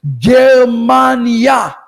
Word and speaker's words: Germania: How do you say Germany in Hebrew? Germania. Germania. Germany, which is near the